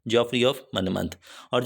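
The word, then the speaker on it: Monmouth: Number 3 पे हमारे पास आ जाता है जॉफ्री ऑफ मनमथ, इसको आपने मनमथ बोलना है, जॉफ्री ऑफ मनमथ।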